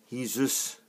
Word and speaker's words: Jesus: And it's Jesus, spelt with a J, but it's actually H you say that with. And some places, other teams, they call Jesus. But because he's, I would have thought, Portuguese, Brazilian is the language. I got that round the wrong way around. In Brazil, they speak Portuguese, so that is spelled with an H, said with an H.